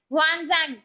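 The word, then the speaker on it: 玄奘: है नसंग ठीक है नसंग बेटा चाइनीज नाम है स्पेलिंग कुछ और प्रोनंसिएशन कुछ और ऐसा होगा ही है ना तो नसंग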